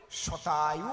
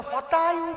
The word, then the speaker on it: শতায়ু: শতায়ু ভব। শতায়ু ভব। ওনার তো স উচ্চারণ হয় না, উনি কয় হতায়ু ভব।